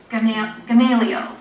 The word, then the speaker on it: Gamaliel: a good 5 minutes and keep on saying Gamaliel, and I'd have to repeat it after her. It was like My Fair Lady. So I finally got it right, and it is Gamaliel Bradford, and he was really well-loved by the town.